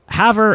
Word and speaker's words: Havre: Havre is apparently how you say it.